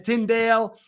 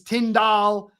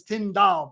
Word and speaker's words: Tyndall: I notice you pronounce Tyndale as Tyndale. It's Tyndall. with being pronounced like the laundry detergent. So it's Tyndall, but I think I might have screwed it up again too.